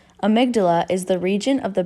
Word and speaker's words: amygdala: like that is incorrect the correct way to pronounce that word was amygdala amygdala is the region of